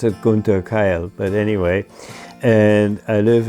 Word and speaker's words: Gunther Keil: And usually I pronounce it Gunther Keil, but anyway.